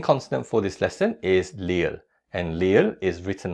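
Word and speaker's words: 리을: The second consonant for this lesson is le and le is written like this. Le is similar to the L sound in lie and snow. So, it's L.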